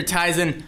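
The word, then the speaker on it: Tizen: that didn't happen so whether it's teason or tysen I'm not going to try and get involved in that I'm going to say tysen though Le I can pronounce it both ways and be right one of them tyon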